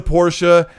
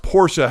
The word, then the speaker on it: Porsche: colt i'm loving the porsche 918 spider and forza horizon 5. it's pronounced porsche how many people say porsche in the chat is that like a